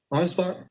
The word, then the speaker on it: Ansbach: Ansbach.